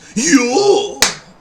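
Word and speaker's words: YOH: off with show versus you i'm sorry i had to do that as soon as i heard his name was actually pronounced yo i just i just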